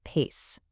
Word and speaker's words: PAICE: It's pronounced PACE. Super simple, like keeping pace with change, which is exactly what this is all about.